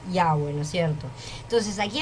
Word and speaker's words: Yahweh: La clave está en la frase yo soy y especialmente en la frase yo soy el que soy, que se pronuncia Yahweh, ¿no es cierto?